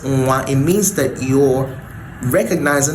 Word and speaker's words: nwa: to know is that if in your pronunciation you pronounce nwa as nwa and not nwa, just realize that you're not actually using the nwe sound, you're using a syllabic nasal nga to pronounce your nwa.